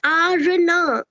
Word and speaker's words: Aarna: No, it's not Ara, it's Aarna.